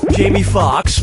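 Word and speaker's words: Foxx: lead in Jango Unchained Jamie Fox Jamie Fox Jamie Fox or Jamie Fox no no I'll get this Jamie Fox's last name has two x's in it the first x is silent step right up to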